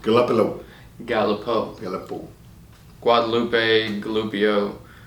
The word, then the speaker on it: Galipeau: al i peña you miss French Canadian it's pronounced Galipeau go up a little Galipeau the other pool Guadeloupe gloopy oh you know